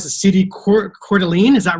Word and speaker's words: Coeur d'Alene: superstar agent from idaho um i came to pronounce the city court coeur d'alene is that right yep you get it all